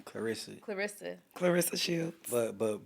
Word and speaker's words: Claressa: We going to get to Papusen, how you pronounce her name? Clarissa.